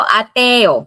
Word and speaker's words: ateo: Para eemplo, ateo, ateo, ateis. The three syllable it becomes a te o.